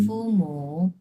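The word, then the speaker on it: 父母: ফুমু হুম ফুমু, এই মুটা কিন্তু ফুল থার্ড উচ্চারণ হবে, ফুমু।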